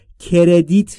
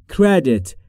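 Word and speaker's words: credit: تلفظش دوستان دقت بکنید کردیت نیست کردت کردت هم در مورد تلفظ سی و ر باید دقت بکنید که میشه کر کر که بین سی و ر صدایی وجود نداره هم در مورد تلفظ دت در آخرش بین ای و ا میشه کردت کردت یعنی اعتبار کارد یعنی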